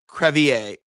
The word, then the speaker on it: Crevier: So the exact pronunciation is crevier.